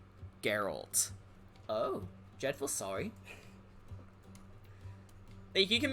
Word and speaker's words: Geralt: you can say is not gerald geralt oh dreadful sorry he